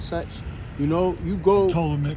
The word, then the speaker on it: Ptolemy: Ptolemy. Yeah, Ptolemy, it's like Ptolemy. That's niggas say pronounce the P.